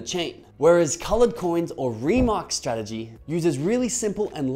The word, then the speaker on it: RMRK: messages are actually called remarks which leads to the actual name of this protocol remark it's not pronounced rmrk now this is all